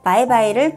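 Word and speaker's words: 拜拜: 가장 흔히 많이 쓰는 말 중에 하나인 영어의 바이바이를 중국어식으로 발음한 건데요.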